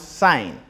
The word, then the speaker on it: sine: So fundamental trig ratios are sine, which is abbreviated as SIN, pronouns sine, SIGN.